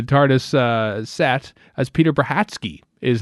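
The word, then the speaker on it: Brachacki: s of braki because it's b r a c h a c k i or something it's bratsky because he's uh I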